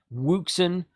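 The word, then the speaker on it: Wouxun: a company called ocean now it's spelled waksun watson something like that wuxen is how uh richard at main training company says it these radios are some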